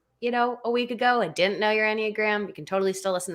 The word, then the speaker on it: enneagram: were trying to say is it engram no it's enneagram according to both google